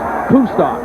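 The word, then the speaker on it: Kustok: His name is pronounced Kustar and he was an outstanding basketball player in high school.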